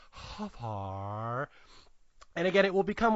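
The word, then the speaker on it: Hfuhruhurr: Michael Huffar. And nice. Spelled, yeah, here we go. It is spelled Hfuhrurr. And you have to say it with that little pause, Huffar.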